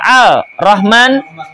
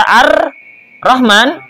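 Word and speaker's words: الرحمن: Walau khaffafa qadirun aw ajizun muqassirun musyaddadan ka'an qara'a al rahman bifakil idgham batalat salatuhu. Seandainya seorang yang mampu membaca dengan fasih atau lemah meringankan bacaan yang ditasdid, misalnya Al-Rahman harusnya dibaca Ar-Rahman tanpa idgham, maka sholatnya batal.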